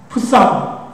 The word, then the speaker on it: Psalm: 그래서 시편은 영어로 제목이 풋삼 이렇게 돼 있구나, 이렇게 그렇게 얘기했다고 합니다. 그런데 여러분도 잘 아시는 대로 이 PLSALM인데, 죄송합니다. PSALM인데, 이 P는 이 영어에서 묵음을 합니다.